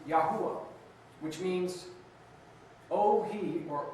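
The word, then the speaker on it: Yahweh: In the Hebrew text, it's written with four letters without vowels, transliterated into English as Y hw. The proper pronunciation for this tetra grammat is Yahwa which means oh he or oh he is.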